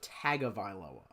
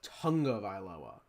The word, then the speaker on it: Tagovailoa: So, it looks like Tagovailoa. But I've heard it pronounced Tungavailoa. Because of the sound, like he's Hawaiian, the sound that makes in Hawaiian names.